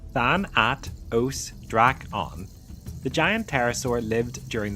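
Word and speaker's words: Thanatosdraco: Thanatos Draken pronounced Thanat Odra on the giant terasaur lived during the late Cretaceous period around 86 million years ago in what is now Argentina.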